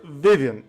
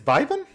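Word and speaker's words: Vyvin: knight removes his helmet and it is Sir Vivian. Viviian Vivven. It's Vivven. Okay. Yeah, it's pronounced Vis.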